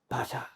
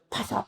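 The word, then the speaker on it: ভাষা: 바샤 비에다가 H 발음이 조금 들어가죠. 바샤. 근데 어떤 분들은 파사, 자꾸만 파사 하던 파사가 뭔가.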